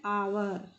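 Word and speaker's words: hour: यहाँ देखिए एन आवर, यहाँ जो एच है ये साइलेंट है, तो यहाँ हम आवर आ की साउंड आ रही है तो एन लगाएंगे।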